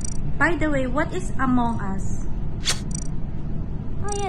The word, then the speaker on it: Among Us: to play among us is that the correct pronunciation yeah because there's a lot of people who say us me too i thought it's a mongoose no that's not it's among us yeah you want to